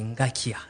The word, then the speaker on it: Ngakia: J'aimerais je crois que vous avez oublié de présenter madame madame la présidente madame Josien Ngakia ce n'est pas euh comment vous l'appelez c'est Ngakia c'est la fondation Ngakia merci merci pour la rectification som en direct